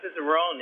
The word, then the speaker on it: cicerone: and you've got to tell me what a cicerone is if i'm pronouncing it correctly oh you're right on the